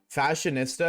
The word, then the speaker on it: fashionista: Fashionista is pronounced like barista. Fashionista.